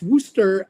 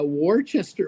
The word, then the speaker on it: Worcester: Uh pronounced Worooster. uh says here uh Kevin that's Worster um Rocky uh Warchester Warchester Worcester Ro Richard watch your sister sauce